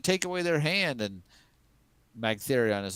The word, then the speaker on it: Magtheridon: How do you pronounce its name? Magtheridon. Magtheridon.